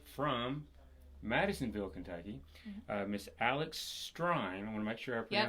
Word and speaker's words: Strein: A very special guest from Madisonville, Kentucky, Miss Alex Strein. I want to make sure I pronounce that right. It's like Stein, but more aggressive.